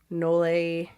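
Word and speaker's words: nolle: wasn't technically dismissed, it was, how do you pronounce that? Nole.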